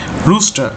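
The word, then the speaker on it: rooster: যেটা হচ্ছে সেটা হচ্ছে রুস্টার এখানে আর এর শেষের আর এর উচ্চারণ হয় না রুস্টা রুস্টা মানে হচ্ছে মোরগ হ্যাঁ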